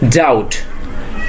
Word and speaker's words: doubt: So second one is doubt. Doubt, not doubt, it will be doubt.